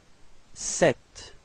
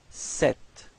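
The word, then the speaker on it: cette: then set all right feminine form set okay so repeat set all right so you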